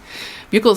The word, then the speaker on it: buccal: It's buccal, like a buckle. Buccal swab. But some people say buccal. Buccal swab.